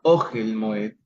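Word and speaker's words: אֹהֶל: Ogel, ven ustedes ahí, Ogel tiene el acento bajo la consonante Aleph. No es Ogel, sino Ogel Moed.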